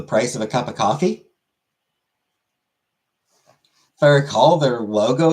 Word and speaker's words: Ko-fi: Uncle Buck donated to my coffee, like Ko-fi as they call it. It's coffee. I don't know why they call it Ko-fi when coffee just genuinely makes more sense.